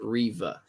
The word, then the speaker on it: Reva: Moses Ingram got a big pop from the crowd already, which made we got confirmation on how to say her name. It's Reva.